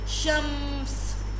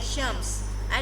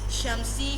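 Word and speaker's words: شمس: If it is upon any alphabet, just stop there, like shams. I did not pronounce it as shamsi, shamsa, shamsu. I pronounced it as shams.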